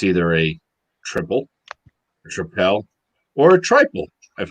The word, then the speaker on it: Tripel: doing a beer that actually has three different pronunciations it's either a triple rappel or a trifle I've heard it called